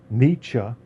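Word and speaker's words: Nietzsche: Um, and I think since we just uh since we just talked about the niche, let's get into some nichems. How to pronounce his name.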